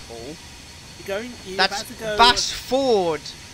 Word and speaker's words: Basford: Bassford, YouTube, not something else. Yeah, Bassford. Yeah, Bassford. If you would like a clarity there, YouTube, that is spelled B-A-S-F-O-R-D. Bassford.